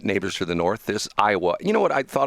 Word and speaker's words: Iowa: Iowa is four letters, but it's three syllables. Isn't that interesting? Yeah. I think most people say Iowa.